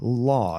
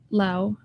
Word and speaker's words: Lau: excuse me, Laura, but you go by Law. Am I pronouncing it right? Lao, but it's Lao. okay. I understand that Americans and English speakers say it like Laura, but in Spanish is Laura, so it's Lao.